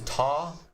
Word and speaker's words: tar: And to unlock abilities, you spend the currency is tar. Tar, like tar. Spelled like tar.